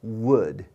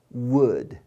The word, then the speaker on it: would: 선생님 여기 L인데 L 이런 걸 묵음이라 그래. 발음 안 해 저거. 그래서 왼쪽에 있는 친구랑 오른쪽에 있는 친구가 발음이 똑같아요.